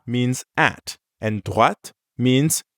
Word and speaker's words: droite: And make sure you're pronouncing the t sound at the end of droite. Ready to give it a go? Repeat after me. Droite. À droite.